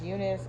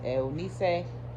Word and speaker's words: Eunice: So my name is Eunice, and the Hispanic way of pronouncing it is Eunice. So I was Eunice pretty much the whole trip.